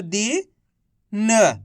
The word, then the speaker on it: दिन: इ की मात्रा है दी न तो मिलकर बन जाएगा दिन कैसे पढ़ेंगे दिन ऐसे नहीं पढ़ेंगे दिन अगर आप दिन पढ़ोगे तो बड़ी ई की मात्रा का उच्चारण हो जाएगा कैसे पढ़ेंगे दिन अब